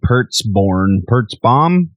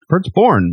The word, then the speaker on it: Pertzborn: Also, this will be the first new record for guitarist Paul Wiley, as well as drummer Brandon Pertzborn. Pertzborn. I said it right the first time.